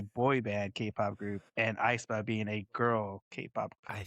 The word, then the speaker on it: aespa: It's Aespa. I'm Is pronouncing Aespa.